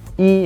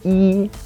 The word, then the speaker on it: 一: We said that if it's a number, we only pronounce it as the first tone. For example, 11 is 11. and then we said when E is together paired with a fourth tone, it becomes the second tone, and we used measure words to demonstrate that.